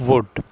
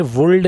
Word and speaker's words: would: यूज़ ऑफ वुड, वुड में L silent होता है, कभी भी ये गलती नहीं करनी, वुल्ड नहीं बोलना इसको।